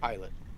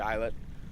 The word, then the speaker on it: Islet: How do you pronounce that? Islet.